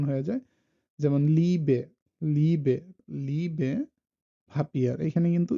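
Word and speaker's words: Liebe: আর ই এ এটার sound লাইক double ইর মতো, যেমন ই লাইক ইলিশ, অথবা ইয়ে অনেক ক্ষেত্রে আবার এটা ইয়ে উচ্চারণ হয়ে যায়, যেমন লিবে, লিবে, লিবে ভাপিয়ার, এখানে কিন্তু ইটা চলে আসতেছে লিবে, লিবে।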